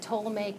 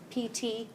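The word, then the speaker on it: Ptolemaic: whenever somebody says the to make model think celestial sphere still toic model still puts the toic model I know they pronounce it PT the toic model that p is silent the to make model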